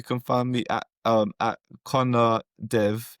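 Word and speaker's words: Conaire: And um for me you can find me at um Connor Dev. However it's spelled C O N A I R E. Dev. Um, I spelled it the old Irish way cuz I thought that's quirky.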